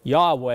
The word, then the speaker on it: Yahweh: The name is JVHV, or Jehovah is the way we pronounce it, or Yahweh.